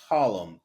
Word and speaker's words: Harlem: and and we say Harlem we don't ever say the r the r in Harlem is like the T in Atlanta you just don't pronounce it my grandfather arrived from